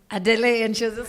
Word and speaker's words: Adelaide: It has a silent E at the end. All of my primary school teachers used to call me Adelaide.